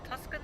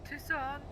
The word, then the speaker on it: Tucson: I'm heading to Tobacco, which will That's pronounce them warm. properly, you know. Have you been to Tuscan lately? No, Oh, sorry, Tucson.